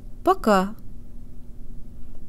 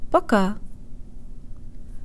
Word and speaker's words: пока: Пока. Пока. Пока. Make sure the first syllable is shorter and de-emphasized, and tell your brain that here the O sounds like a schwa sound with an ah flavor.